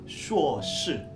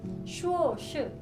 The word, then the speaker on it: 硕士: 学士 Nah, kalau S2 kita bacanya itu 硕士. 硕士 Sekali lagi 硕士.